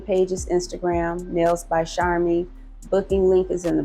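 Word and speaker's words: Sharmie: Charmy is phonetically pronounced Char and me, but it's spelled SHARM as in Michael.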